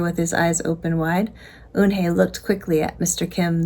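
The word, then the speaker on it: Unhei: his eyes open wide unhe looked quickly at Mr Kim then turned to Joey she nodded slowly yes it's pronounced un and it means Grace Mr Kim added un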